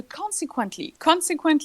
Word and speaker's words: consequently: So, consequently, the stress syllable is the first one.